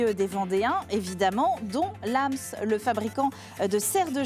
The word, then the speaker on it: Lams: pas demandé hors caméra on dit bien Lams exactement oui vous savez c'est comme